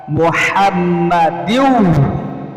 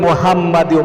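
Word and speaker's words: مُحَمَّدٍ: আল্লাহুম্মা সাল্লি আলা, বলেন একটু কষ্ট করে বলেন না, আল্লাহুম্মা সাল্লি আলা মুহাম্মাদিন ওয়া আলা আহলি বাইতিহি, বলতে হবে আল্লাহুম্মা সাল্লি আলা মুহাম্মাদিন, অনেকে বলে মুহাম্মাদিও, মুহাম্মাদিও না, মুহাম্মদ, এই গলার মধ্যে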